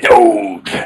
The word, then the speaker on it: Doge: Yeah, Doge.